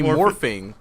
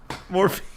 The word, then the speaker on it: Morphin: Mighty all the Morphin. openings. I watched Mighty Morphing. To be Mighty those Morphine? openings are pretty Mighty Morphin. Morphing.